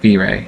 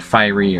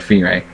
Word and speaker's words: Fyree: My name on the site, FyreeTSG, yes, pronounced Fyre, not Fiery or anything else, but Fyre, comes from, well, the